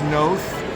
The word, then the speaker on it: Noth: Let me get this right cuz people always mispronounce my name. It's Chris Noth.